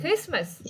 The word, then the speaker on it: Christmas: نقولوا listen okay listen T يكون silence لما يكون قبله ال S okay like Christmas okay like castle so دائما يكون تي silence.